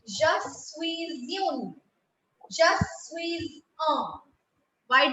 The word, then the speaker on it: suis: Je suis. I will keep the last S silent because consonants that come in the end in French are kept silent. We do not give them their sounds.